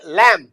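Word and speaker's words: lamb: और वो छोटी साउंड है ए की ये लम ये अ तो ये लम है ना मैम या भेड़ का बच्चा अच्छा ये है जैम।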